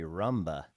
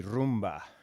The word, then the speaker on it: rumba: Americans say rumba, but it's technically rumba.